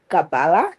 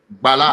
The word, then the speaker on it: Bala: Gabala. Am I pronouncing your name right? Bala. My name is Bala. Oh, it's Bala.